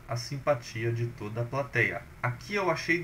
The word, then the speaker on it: plateia: você poderia achar pela plateia. Por quê? Plateia é uma daquelas que perdeu o acento. É uma paroxítona, né? A mais forte aqui é tei, e essa paroxítona tem na penúltima sílaba um ditongo aberto.